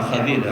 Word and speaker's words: خضر: شاگردی میں ہے۔ حضرت خضر کو خضر کہا جاتا ہے، یہی تلفظ صحیح ہے جو میں آپ کے سامنے پڑھ رہا ہوں۔ خضر لوگ بولتے ہیں، یہ خضر ہے۔ صحیح بخاری کی روایت